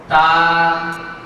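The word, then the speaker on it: ت: কিভাবে হরফটি উচ্চারণ করছি তা তা এই হরফটি আমরা আয়না থেকে পড়ে নিচ্ছি তা বন্ধুরা আমাদের জিহ্বার আগা আমরা লক্ষ্য করছি সামনের এই দুই দাঁতের ঘোড়ার সঙ্গে জিহ্বার আগাটা লেগে যাচ্ছে ভিতরের সাইড তা আমরা সবাই আরেকবার একসাথে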